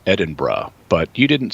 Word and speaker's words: Edinburgh: So Deirdre here in San Diego, thanks for straightening me out on my pronunciation of one of the most important cities in the world. It's also not Edinburgh, it's Edinburgh.